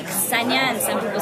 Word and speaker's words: Ksenia: Ksenia. Because technically it's Ksenia, but in America, people like don't associate the K and the S like as one sound.